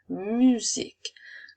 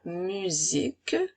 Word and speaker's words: musique: son puisque elle a une voyelle de chaque côté la lettre U et la lettre I sont des voyelles alors à ce moment-là la lettre S va faire le son à la musique je peux utiliser ce